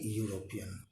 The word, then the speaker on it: European: as he is a european here eu just pronounce it like why you this is a unique